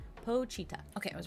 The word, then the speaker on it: Pochita: Let me say how to pronounce Pochita from Chainsaw Man, because I don't want to say it wrong. Pochita.